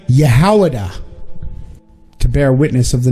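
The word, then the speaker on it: יהודה: What is the Hebrew pronunciation of the word Judah? Yehowadah.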